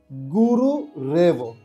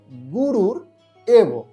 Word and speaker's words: গুরুরেব: তারপরে রয়েছে গুরু রেব, এটা হবে গুরুর এব, গুরুর এব সমান সমান গুরু রেব। একারে এখানে এর উচ্চারণ হয়েছে, একারে এখানে এর উচ্চারণ হয়েছে গুরু রেব, গুরুর এব।